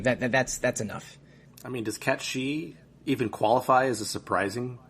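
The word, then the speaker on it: Cait Sith: And I know that Cat Shi is the right way to say it, but I'm still going to say Kate Sith, just because I'm a moron whose brain hasn't quite left 1997.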